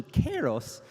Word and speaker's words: Kairos: I've been informed by one of our staff members with the Greek heritage that this is actually pronounced closer to Kairos.